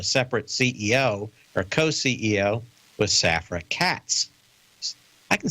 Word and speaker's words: Safra Catz: of the stock market, Safra Catz. It's like one word, isn't it? Anytime you have a first and last name that can be pronounced as a single word, I think that's Safra Catz.